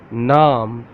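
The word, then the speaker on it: نام: Naam.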